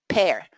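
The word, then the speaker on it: pear: I don't want even to say that so you don't don't remember the wrong pronunciation because definitely you should pronounce it in the same way as the word pair.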